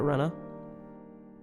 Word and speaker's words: Rena: That the character's name was in fact not Rina, but Rena.